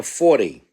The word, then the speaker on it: Forte: or Tina 40 as she pronounces her own name.